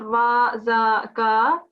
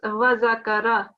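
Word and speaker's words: وذكر: It's not va, za, ka. It's wa zakara.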